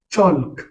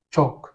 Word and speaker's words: chalk: Pour ces mots, le L n'est pas prononcé. Donc, ce mot par exemple, ce n'est pas chalk, c'est tout simplement chalk.